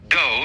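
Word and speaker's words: 道: Go is the way the Japanese pronounce Tao.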